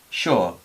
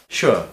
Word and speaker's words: sure: Cuando va la S sola, a veces también se pronuncia así, como si fuera SH. Sugar, sugar, sure, sure.